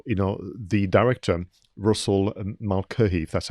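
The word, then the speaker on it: Mulcahy: and but also you know the director russell malcolm that's how you pronounce his name this was his second feature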